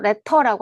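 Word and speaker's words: letter: 트 발음은 르발음을 하거나 뭐 이런 거는 특정 지역 방언에서만 일어나기 때문에 다를 수가 있다. 그래서 레터라고 할 수도 있고 레로라고 할 수도 있고 그게 뭐 레터를 레로라고 해서 틀린 건 아니다라는 얘기인 겁니다.데 요즘엔 또 미국 영어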